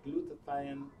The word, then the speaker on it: glutathione: Oz and glutathione, and it's spelled Glutathione, glutathione. And the easiest way to remember that or pronounce it is to think of a man and he's gluing his tie on. Glue that tie on.